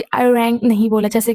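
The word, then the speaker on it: 아리랑: क्योंकि जो फॉरेनर्स हैं, जो यूरोपियन हैं, अमेरिकन है, वो अरिरंग नहीं बोल पाते हैं। वो अरिरंग ऐसे मतलब अजीब बोलते हैं, जबकि रियल प्रोनाउंसिएशन है अरिरंग।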